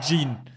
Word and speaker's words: Jean: ich heiße je Jean wie spricht man das aus also wirklich das ist das schwierigste Jean ich habe es richtig ausgesprochen Jean je ja okay Jeans